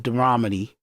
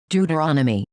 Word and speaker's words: Deuteronomy: outlined in religious texts like the book of Deuteromy. So it's in dur is in Deuteromy. Make sure I'm pronouncing that right. Deuteromy. Deuteronomy.